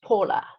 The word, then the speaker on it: Paola: school with a chit Paola is pronounced Paula in English Oh Paula Ola Ola